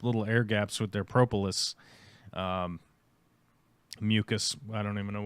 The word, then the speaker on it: propolis: Do you want to learn how to pronounce propolis? Yeah. Here we go. Welcome to the show. Propolis. It's propolis. Okay, you got it.